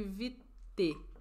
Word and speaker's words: Vitae: Serei pedante. Pronuncia-se VT. É um acento circunflexo ou um acento agudo? Eu não consigo enxergar. Circunflexo? Ok. Vitae, eu vou tentar me lembrar.